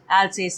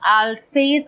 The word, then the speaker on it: Alsace: Alsace is the name of the province. In French, probably it's pronounced as Alsace. I'm not too sure.